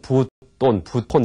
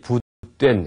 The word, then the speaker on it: 부뙨: 이분은 부된이라는 분인데, 보통 이제 여러분 개론서 보면은 부톤 이렇게 나올 겁니다. 근데 원래 그 발음하는 그 방법이 부된 해지 마다 이렇게 얘기를 하죠.